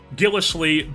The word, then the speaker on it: Gillislee: rookie out of Arkansas and then Gillis Lee I believe how you say it is a former dolphin